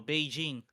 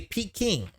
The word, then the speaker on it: Peking: No, it's actually Peking. Peking. Oh, it's Ooh. same city, wrong pronunciation. Yeah. Sorry Yeah. about that, man. Unfortunately, couldn't and, give it to you. Yeah. And that's also how you say it in the Russian language.